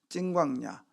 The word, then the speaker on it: 신광야: 근데 여기는 신광야라고 하는데 이걸 원래 신이라고 하면 안 되고 찐이라고 해야 돼. 찐광야. 그러니까 진광야라고 하는데 찐광야입니다. 원래 발음으로는.